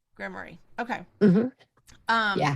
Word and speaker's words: grimoire: How do you pronounce it? Granny's grimoire grimoire.